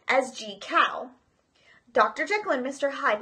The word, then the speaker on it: Jekyll: tale made it was the only one to pronounce Jekyll's name correctly as G cow dr.